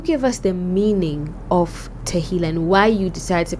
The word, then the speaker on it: Tehillah: I want us to move into Tehillah Experience. That's how to pronounce it, right? Yes. Tehillah Experience.